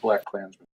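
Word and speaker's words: BlacKkKlansman: supposed to be pronounced black clansmen I think it's just black clansmen so the the middle K is silent the uppercase K the live feed has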